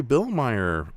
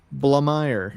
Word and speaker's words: Blamire: Um Larry Bilmer, Blime, I'm getting his last name wrong. You know, the Lost Skeleton Cadaavver dude. Blamire.